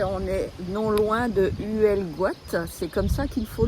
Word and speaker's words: Huelgoat: Oui, on est non loin de Huelgoat, c'est comme ça qu'il faut le prononcer.